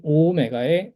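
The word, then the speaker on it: ὦ μέγα: 그다음에 오오메가 여기 오오메가의 오도 장음이기 때문에 길게 오오메가 이렇게 발음해 주시면 됩니다.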